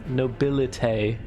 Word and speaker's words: Nobilite: Tay at the end. Okay. I mean, sure, I can try to adjust to that. Nobilite.